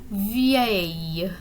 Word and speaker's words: vieille: So if you really drag out that pronunciation and pronounce all those vowels in that word, vieille. Okay, so there's lots of letters there, and basically that's how it sounds once you put them all together.